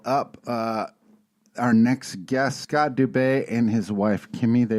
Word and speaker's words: Dubay: I believe that's how it's pronounced, Dubay? That's correct.